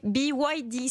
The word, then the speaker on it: BYD: eux ah oui il va falloir s'habituer à prononcer BYD ça s'écrit BYD pour les auditeurs de ropin